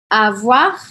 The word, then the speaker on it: avoir: Tu me fais de la peine avoir. Aqui eu pronuncio esse R, tá? Importante. Avoir de la peine.